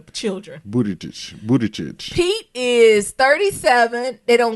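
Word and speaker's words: Buttigieg: bit moody but a kid but it's children booty tooch Budaj he is 37 it got his height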